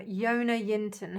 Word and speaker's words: Jonna Jinton: I tell you, there's an amazing YouTuber called Yona Yinton. Her name is spelled Jonna Jinton.